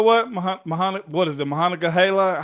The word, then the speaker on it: Monongahela: So you know what, Mahana, what is it, Mahana Gahala? How do you say it, Mahana Gahala? Monongahela Mike.